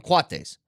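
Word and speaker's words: coati: on the court so it's c o a TI is how it's spelled but they call them quates okay they look like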